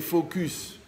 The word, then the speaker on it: focus: Attention, il faut bien prononcer le S. Donc, quand tu fais focus sur la bouteille, le reste est flou.